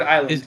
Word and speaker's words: island: And what do you mean in Ireland you don't pronounce yes? Who do I? I didn't. Oh, in Ireland, in the word island.